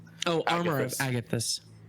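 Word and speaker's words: Agathys: Um, armor of Augustus. I don't know how the how to pronounce it. Oh, armor of Agatus.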